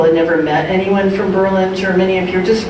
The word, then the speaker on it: Berlin: it's late 1917 and is accented on the second Berlin for some reason things